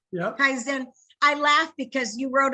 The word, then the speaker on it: Kaizen: Kaizen.